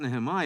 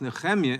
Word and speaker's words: Nehemiah: inform the chairman that the proper pronunciation is not Nehemiah, it's Nehemiah in the original Hebrew.